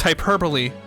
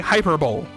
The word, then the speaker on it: hyperbole: going to inform you it's hyperbole don't say hyperbowl and that's how I